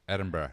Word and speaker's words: Edinburgh: in edinburgh edinburgh edinburgh edinburgh edinburgh there's no g at the end it's pronounced okay i've heard they have